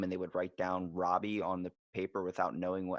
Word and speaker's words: Roby: but it's at Odang, it's Robbie, and that's spelled Roby.